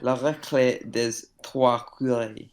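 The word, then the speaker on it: La Récré des Trois Curés: Tre- Trois, not dre. It's a music bot now. Good. La recré des trois curés.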